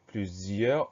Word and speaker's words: plusieurs: Ensuite R et le S à la fin qu'on n'entend pas.